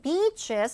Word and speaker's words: beaches: 얼마나 많겠어요 해변들이 plus There are lot of beaches in Japan 해변 할 때 발음 항상 조심하고 길게 차라리 오버에서 그냥 길게